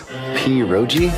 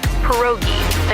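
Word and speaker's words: pierogi: Poi. Did I pronounce that right? It's pronounced perogi. A tasty dish like dumplings.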